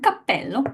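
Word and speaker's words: cappello: is it a pitfall because guys in English we don't really have any uh situation in which just by making the same consonant stronger and that's the effect of the double it changes its meaning whether you say I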